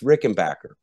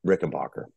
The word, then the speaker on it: Rickenbacker: um so some folks would say Robert you're pronouncing it wrong it's Rick and Backer and technically I guess that's true because Adolf did change his last name however ever uh I still say Rick and Boer uh whether I'm right or whether I'm wrong